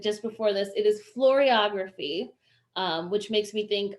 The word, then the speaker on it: floriography: an official um term we looked up the pronunciation of it just before this it is floriography um which makes me think of dancing flowers